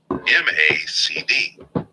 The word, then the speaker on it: MACD: not unlike how chefs m-a-c-d the last indicator i use is the m-a-c-d pronounced macd which stands for moving